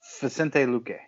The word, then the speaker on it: Vicente Luque: Vicente Luque.